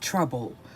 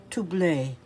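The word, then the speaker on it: Troublé: last name is actually, in English you would think it said trouble, but it's actually spelled like trouble with the accent over the E, and it's pronounced Toublé.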